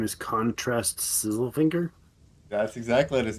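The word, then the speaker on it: Khon-Trast: The con is Khon, and then there's a dash, and then it's Trast. Trast.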